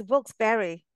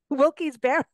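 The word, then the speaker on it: Wilkes-Barre: uh again Philadelphia Pittsburgh it's not wils did you say wils it's wils Berry yeah that place wilky Barry look he's like saying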